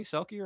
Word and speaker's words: selkie: He'll be able to pronounce the word sulky. I mean, that's where I really went wrong actually is on that one. But still, didn't I say selky right? You did. And I was floored.